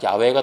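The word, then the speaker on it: 야훼: 알 수 없어요 그래서 우리말 범위에서 옛날에 여호와로 했지만 학자들의 연구가 좀 더 진전되면서 야우 여호와 보다는 야외가 더 맞는 발음의 가까울 것이다 라고 추측하는 거죠 우리가 운전할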